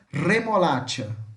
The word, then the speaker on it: remolacha: um som de X, mas vamos colocar um T na frente. É como se tivesse um T. Então, vai ficar o som de tchá, tchá, tchá. Então, remolacha, tá?